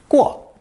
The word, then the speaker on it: 过: This lesson contains only a single new character, pronounced fourth tone, 过.